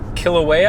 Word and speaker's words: Kilauea: we came here yeah kill away I think is how you say the name of the volcano but that volcano was